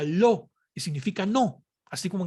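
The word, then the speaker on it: לא: excelencia del hebreo está compuesta por las letras lamer y aleph y se pronuncia lo que significa no así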